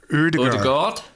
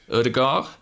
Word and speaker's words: Ødegaard: See, Ødegaard. Ødegaard. Yeah, the D is silent.